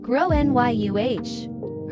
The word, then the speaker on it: Gráinne: She asked what I meant and I said, "Well, in Ireland, they typically pronounce it like grow NYU."